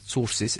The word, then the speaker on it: Tzortzis: uh helping us in that as well Hamza sources am I pronouncing that about correctly Hamza don't yes you